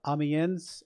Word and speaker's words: Amiens: google search said uh amiens oh no no i don't think the s is pronounced i think it's just ambien something like that we're gonna go with